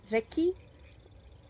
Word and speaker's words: recce: Recce. So yes, that's a very funny way of pronouncing the word. It's Recce.